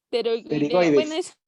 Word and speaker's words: pterigoides: Es que acuérdate, el error es tratar de pronunciar la P. Ajá. No va la P. Ajá, Es esteroideo. como Ajá. psicología.